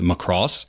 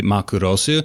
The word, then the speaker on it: Macross: dimension fortress macros and don't at me saying it's pronounced Macross because we both know it's really ma Kudo soo and I can anglicize it however I want and most especially he